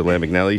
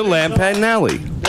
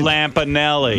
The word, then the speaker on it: Lampanelli: and woman I can't say her name Lisa lamignelli she's been on more black men than handcuffs say her name properly Lisa Lampanelli I did it right Lampanelli yeah and panelly yes that's her name yes